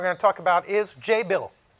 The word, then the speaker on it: Jabil: to talk about is Jay bill rhymes with enable so um how many